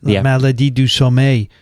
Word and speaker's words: la maladie du sommeil: La maladie du sommeil.